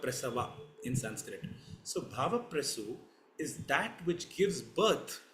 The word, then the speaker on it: Bhavaprasu: is referred to as Bhava Prasu. I repeat it, Bhava Prasu. If I have to spell it in English, it is BHAVAPRASU. It's a Sanskrit word.